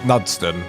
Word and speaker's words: Knudston: It's probably pronounced Knudston. Silent K.